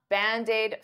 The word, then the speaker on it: Band-Aid: it is it's it's band aid is two words but to pronounce them like one I'll take that D and transfer it to the vowel bandid bandaid bandaid Band-Aid fix